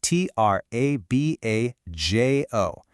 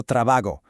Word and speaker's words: trabajo: The mistake people make is softening that sound into a hard English G, saying something like yo trabajo. No way, that is incorrect. That J sound has got to stay strong in all the forms.